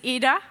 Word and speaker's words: Ida: now the movie is eda in English we would say Ida but they pronounce it as you'll see Edith and we're going